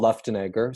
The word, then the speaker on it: Luftenegger: So, but it's Paul Luenegger.